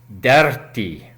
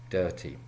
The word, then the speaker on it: dirty: Now the reaon I say dirty is it is not pronounced DIRRRTY. No, no most definitely not. It is dehtee.